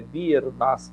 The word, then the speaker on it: Biernaski: Daniela, perfeita, é Biernacki, como pronunciou.